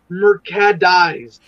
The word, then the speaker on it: Mercadies: It's like the car, it's Mercadies.